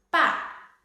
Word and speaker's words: 爸: 父表示这个词的意思，八表示这个词的读音，八爸。